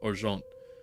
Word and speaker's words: Argent: that is actually the well more accurately pronounced arant uh if I recall